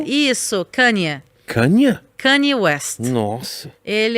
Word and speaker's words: Kanye: Como é que se pronuncia o nome dele? Você vai perguntar pra mim? Tá, ok. Kanye. Isso, Kanye.